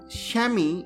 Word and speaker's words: chamois: Chamois Leather: Pronounced as Shamee in American English and Shamwaa in British English.